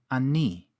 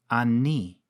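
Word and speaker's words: אני: we have the pronoun ani. Ani. In biblical Hebrew, sometimes you'll come across another form, pronounced anochi. Both forms end with a chirik yod for that recognizable E sound.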